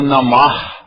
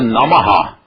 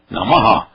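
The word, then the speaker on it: namaḥ: Shivaya Namah. Não, Shivaya Namaha. Mas não tem A. Tem. Não está vendo, é oculto, mas tem. Namaha. Não pode deixar de pronunciar.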